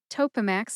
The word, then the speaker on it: Topamax: Topamax has three syllables. That's toe like the toes on your feet, P like pajamas, and max like maximum. Put all three syllables together and you get topamax.